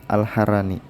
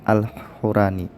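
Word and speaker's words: al-Harrani: Amr bin Khalid meriwayatkan kepada kami, ia adalah Amru bin Khalid alharani. Keliru orang yang membacanya dengan lafaz Alhurani.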